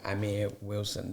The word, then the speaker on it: Amir Wilson: of the promising creative where I'm here with Amir Wilson did I get that right yes you did